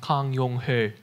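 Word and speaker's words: 강용흘: In Korean, his name would be pronounced Kang Yong-ho.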